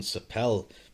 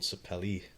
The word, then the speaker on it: sapele: pronunciation of um because i was calling sapel but i'm pretty sure it's called sapele i might be wrong because it's called like the a on the end doesn't it's a pally so